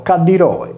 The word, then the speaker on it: Calliroe: In sardo l'acqua calda è detta tra gli altri Cadda, come le terme di Calliroe, pronunciato Cadiroe, situate nel Mar Morto.